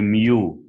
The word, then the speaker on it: mu: from the sample this one it's called the mu this is how you pronounce it guys it's the mean from the